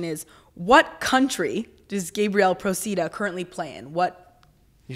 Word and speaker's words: Procida: yes, Procida, exactly, yeah.